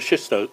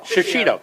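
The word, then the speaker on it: shishito: from the shisto. Yeah. Shisto, Have I been saying it wrong? Okay, I've been saying it I- shishido. Shishido. Thank you.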